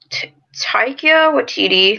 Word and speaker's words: Taika Waititi: So Taika Waititi, I think that's how they pronounce his name.